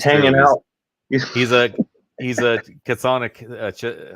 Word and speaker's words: chthonic: He's a chthonic.